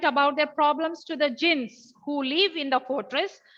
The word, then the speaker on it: djinns: their problems to the jinns. Underline the word DJINNS. Please don't talk when I'm talking. Okay, I'll give you a chance to talk. DJINNS. How do we pronounce that? It is jinns.